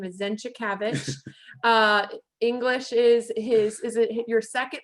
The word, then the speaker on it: Zenczykiewicz: So I'm so excited to introduce you guys to, and how to pronounce his last name is Zenczykiewicz.